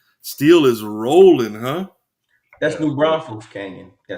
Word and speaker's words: New Braunfels: New Braunfels Canyon.